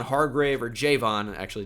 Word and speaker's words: Javon: bit but he's definitely good CJ Gardner Johnson Javon Hargrave or Jayvon actually it's pronounced John Franklin Myers we know about Zach